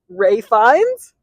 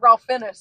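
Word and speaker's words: Ralph Fiennes: Yeah, Ray Fine. I think well that's how I've been told to pronounce his name multiple times and I'm sticking to Ralph. I thought it was Ralph. Well, I said Ralph Fennis at first because I was like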